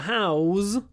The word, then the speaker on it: house: A house, the noun, is s at the end, but to house is z.